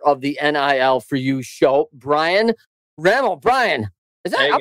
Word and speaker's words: Rammel: Is it Rammel? Okay. Because yeah, I want to say Rammel. I want to say Rammel. How do I say it right? It's Rammel, Brian Rammel.